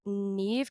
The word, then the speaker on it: Neve: Sydney Prescott from Scream, played by Neve Campbell. Is that how you say it? I never knew.